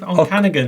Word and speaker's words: Okanagan: And in first place this week, we've got Phil high up in the hills of Lake Onkagan. How do you say that, Steve? Okanagan.